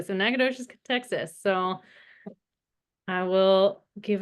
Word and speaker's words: Nacogdoches: a little, and Barry is currently lives in Nacogdoches, is how you say it. Hey, nice job. Yes, well done. Thank you. I was a little bit nervous about pronouncing that correctly. So Nacogdoches, Texas.